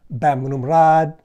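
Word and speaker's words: Bamrungrad: For example, the hospital I just mentioned, Westerners always say Bumrungrad, which is fine with a Westerner, but if you get into a taxi cab and you need to go there, they're not going to understand what you're saying. It's actually pronounced Bamrumrad.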